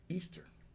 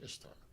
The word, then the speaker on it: Ishtar: Persian empires, and when their goddess Ishtar, which is actually in Persian or was it Farsi, pronounced Easter. Okay. Actually, but we say in English Ishtar.